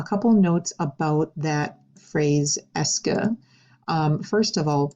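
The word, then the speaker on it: est-ce que: there the est de all of that makes the sound s okay just like you're saying the letter s and then this word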